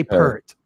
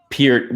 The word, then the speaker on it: Peart: Russia's involvement Neil Peart I'm gonna pronounce it wrong I always say Burt it's yeah peered well I always just